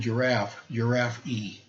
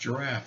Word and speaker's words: giraffe: And she was pronouncing the word giraffe E, because it has an E on the end. And I said, no, it's pronounced giraffe.